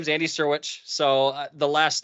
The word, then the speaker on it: Syrewicze: Flo thanks um so my name is Andy sirwich so the last name sounds a lot simpler than how it's spelled so um but snow I I appreciate